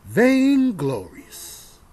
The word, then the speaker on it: vainglorious: Vainglorious. That's how you say it.